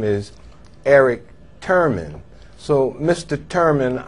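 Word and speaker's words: Turman: High School as Eric Thurman, and the correct pronunciation of his name is Eric Terman. So, Mr. Terman, I apologize for putting the TH sound in your name.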